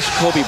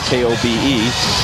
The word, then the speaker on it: Kobe: And eventually, after they took the name from that, K-O-B-E, people started pronouncing it Kobe, and that's what stuck.